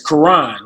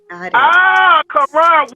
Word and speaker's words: Karon: It's Karon, like the Muslim Bible. Karon. We were both wrong. We never like to mispronounce names here. We both owe each other a soda. But Mr. It's Karon.